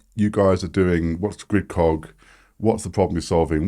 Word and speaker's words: Gridcog: so grid first thing it's grid Cog it's not grid cognition no we no one